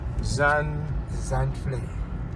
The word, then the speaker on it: Zandvlei: And then it just And how do you pronounce this? Zandvlei.